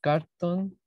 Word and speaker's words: carton: And finally, a lot of carton boxes. Okay. Carton boxes, sorry. Se escribe igual, cartón, pero se pronuncia como si no tuviera la O.